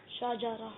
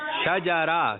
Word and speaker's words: شجرہ: درست تلفظ ہے شجرہ. کیا ہے؟ یعنی شین پر زبر ہے, جیم پر بھی زبر ہے اور را پر بھی زبر ہے.